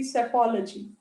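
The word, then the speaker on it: psephology: is called as apology p s e p is silent you pronounce it to be safology next study of flying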